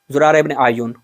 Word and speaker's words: زرارہ ابن اعین: زرارہ ابن اعین. ٹھیک ہے، یا کے اوپر پیش پڑے اعین ہے.